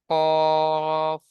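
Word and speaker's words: ق: কফ তিন আলিফ টান দিয়ে পড়তে হবে। স্টার চিহ্ন রয়েছে। এজন্য অক্ষরটি উচ্চারণ করার সময় মুখ গোল হয়ে যাবে।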